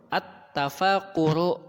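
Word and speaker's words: التفكر: yarji'u pulang, nazala turun, at-tafakuru memikirkan. Ini cara bacanya jangan sampai salah, pakai alif lam ya. At-tafakuru memikirkan.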